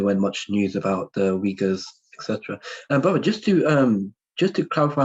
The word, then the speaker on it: Uyghur: I used to say Uyghur, but then a brother told me it's Uyghur, and I was like, okay.